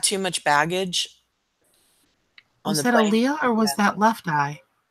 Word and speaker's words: Aliyah: Aliyah.